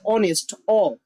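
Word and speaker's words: honest: অনেস্ট। উচ্চারণটা ভাল উচ্চারণ।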